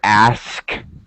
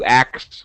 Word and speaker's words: ask: it should be to ask you reverse the K and the S sound I don't even know if you realized it but you said to actx where Dad was uh